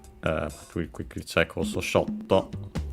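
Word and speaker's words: ショット: But we quickly check also shotto. It's accented on the first syllable. Shotto.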